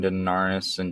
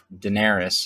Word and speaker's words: Daenerys: books yet I think the books stopped when denar s John Daenerys I'm sorry uh if we just listen to